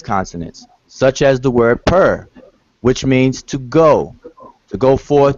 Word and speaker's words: pr: an enclosure, which is the word for house is pronounced per, or Egyptologically, Egyptology speak per, which functions as a logogram.